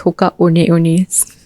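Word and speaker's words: Hoka One One: It's spelled as one One, but it's pronounced as Hoka One-Ones.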